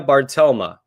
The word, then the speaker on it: Bartelme: Here's pronunciations. Here we go. Leah Bartelma.